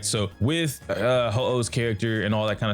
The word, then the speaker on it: Huohuo: or not you actually need or should want Huohuos. And guys, I know it's pronounced Huohuo, but I'm going to call her Huohuo because Pokemon reference.